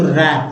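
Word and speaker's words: wrap: यहाँ भी W silent है, और तो जाहिर सी बात है वर्ड है तो रैप।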